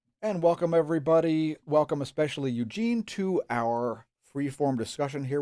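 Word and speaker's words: Яўген: Well, in Russian, it's Evgeny Bagashov, and in Belarusian, it's Eugen Bagashov.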